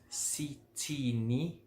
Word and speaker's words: Sithini: (What is your surname) Sithini ('th' is still pronounced as 't' in Zulu) isibongo (surname) sakho (yours)